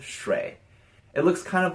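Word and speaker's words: 水: It's pronounced shui.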